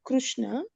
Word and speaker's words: Krishna: said the re re which is for the krushna the that you said is not don't say say don't jump on Krishna krushna krushna kishna is different when you pronouncing it is willna